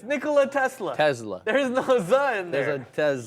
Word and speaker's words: Tesla: say Tesla Tesla why why are you putting the Z in there because that's how you say it it's not like just because there's an S it's not set Tesla it's a Tesla it's Nikola Tesla Tesla